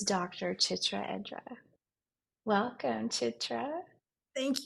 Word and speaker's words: Chitra: so my name is chitra and let me help you pronounce it because it's a different kind of a name it's Che and then tra simple easy um it